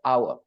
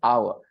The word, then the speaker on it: hour: go to the third hour hour so notice that I is very clear and ER is very clear the middle sound is not so important it's not so loud it's not so you